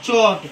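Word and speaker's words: chalk: चौक। एल से पहले ए आया है और एल के बाद के आया है। तो इसलिए हम इसे चॉक पढ़ेंगे। एल यहां साइलेंट है।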